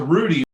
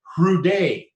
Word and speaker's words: Hrudey: But if you were to ask my dad, in fact, he would say it's Hrudey. And so you're correct in how you pronounce it.